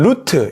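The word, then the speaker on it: רות: 영어 성경에서는 루스, 히브리어에서는 루트 이렇게 발음합니다. 뭐 다 룻을 가리키는 단어죠.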